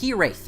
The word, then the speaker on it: hiraeth: It's a Welsh word. It's pronounced hiraeth or something like that.